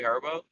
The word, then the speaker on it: Herbo: another hand all right their last name rhymes with turbo Turtle turbo Turbo sh is it g herbo yep it's G herbo